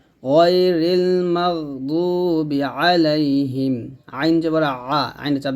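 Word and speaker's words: غير المغضوب: জবর মাগো হবে গাইরিল মাগ এখানে আমরা যে ভুলটা বলি অনেকে মাগ এরকম বলি তো এরকম বলা যাবে না মাগ কোন ধরনের শব্দ বের হবে না আওয়াজটা ধরে রাখতে হবে গাইরিল মাগদুবি দয়াও পেশ দু বা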